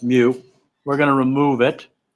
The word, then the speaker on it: mu: is a greek letter greek letter is pronounced mu we're going to remove